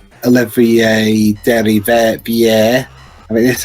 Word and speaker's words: Olivier Derivière: Also interesting, the main composer of Streets of Rage 4, Olivier Derivière.